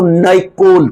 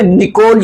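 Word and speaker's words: Նիկոլ: इनके नाम जो है ना थोड़े से डिफिकल्ट है प्रोनाउंसिएशन के हवाले से भी, तो यहां पे निकोल याद कर लो।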